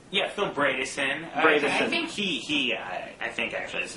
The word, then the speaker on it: Bredesen: How do you pronounce his name? Phil Bredesen.